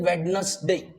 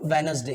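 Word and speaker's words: Wednesday: will be ट्यूजडे okay बहुत सारे लोग इसको बोलते हैं वेडनेसडे ओके अब ओके तो यहां D will be the silent one the sound will be what वेनसडे क्या लिखा है यहां पर वेनसडे डब्लू ई डी लिखना तो आपको डी है बट the pronunciation is what वेनसडे ठीक है द नेक्स्ट इज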